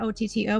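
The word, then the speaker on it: Auto: It is spelled A-U-T-O, not O-T-T-O, but it is pronounced Otto.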